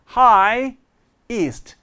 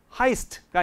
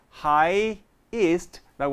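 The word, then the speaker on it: highest: 2가 또 하나 나오잖아요 Hi ist 그래서 발음이 하이스트가 아니라 하이 ist라고 하셔야 돼요 그 다음에 나왔습니다 일단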